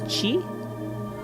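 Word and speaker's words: ち: This is chi. So, this one instead of being pronounced like a t, it's chi.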